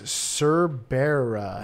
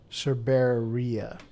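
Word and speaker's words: cerberea: And the species is Cerbera. Hadroniche Cerbera. Cerberia, actually. Cerberia.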